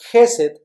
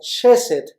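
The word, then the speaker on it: chesed: Esa palabra hebrea es Gesed o Shesed, lo pronuncian otras personas, ¿verdad?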